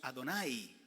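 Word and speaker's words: Adonai: porque esta es la expresión que en hebreo pronunciar y amos adonay pero el señor nos sacó de allá donde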